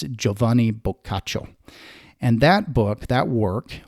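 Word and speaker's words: Giovanni Boccaccio: particular story written by yovani or Jovani bacho is how you'd pronounce it in Italian when you look at the spelling it looks like Giovani basio but uh in Italian it's joavan bacho and that book that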